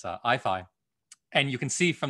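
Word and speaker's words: IAIFI: intelligence and fundamental interactions that we pronounce as ifi and you can see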